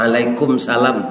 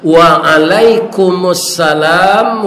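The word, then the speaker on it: وعليكم السلام: menjawabnya jangan diputus kan ada orang diputus Pak Waalaikumsalam tuh putus tu cara membacanya yang benar Waalaikumsalam warahmatullahi wabarakatuh Jadi dihidupkan baris mim itu dan kita hormati Bapak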